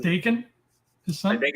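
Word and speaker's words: Daken: It's pronounced Dakin, his son? I think it's Dakin. Like bacon, because he's Canadian?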